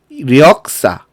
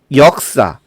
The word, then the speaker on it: 역사: 발음할 수 없다는 것입니다 그래서 력사 외 절 이거는 발음이 되지 않고 역사 예절 처럼 뉴 리 탈락하자 탓 탈락한 상태로만 발음 할 수가 있는 것이죠 이걸 뭐라고 한다구요 이걸